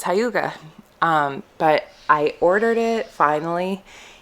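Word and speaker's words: hygge: That's how you pronounce it, Holy Hyuga. And I've been saying Hygie like forever, but I guess it's Hyuga.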